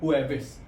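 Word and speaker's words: jueves: Thursday को हम लोग बोलते हैं हुविस। जे हमेशा एच की तरह प्रोनाउंस होता है। इसलिए इसकी प्रसिशन रहेगी हु एस।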